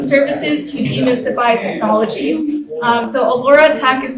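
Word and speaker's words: Alora Tech: So Allura Tech is spelled A-L-O-R-A Tech.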